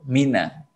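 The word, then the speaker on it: مِنَ: Itu mina. Kalau disukun, maka ketemu 3 huruf sukun semua. Satu huruf nun ini sukun, kemudian yang kedua adalah alif juga sukun, kemudian lam juga sukun. Jadi 3. Bacanya gimana? Min susah. Nun sukun ketemu alif ketemu lam. Min susah. Maka dikasih harokat fathah.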